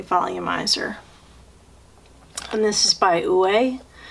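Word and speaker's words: Ouai: and this is by ue it's spelled o-u-a-i i believe that's how you say it away this is almost full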